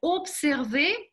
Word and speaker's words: observer: Почему-то, я знаю почему, но все равно, это французский язык, и вот это «с» читается как «с». Observer, ни в коем случае не озвучайте ее.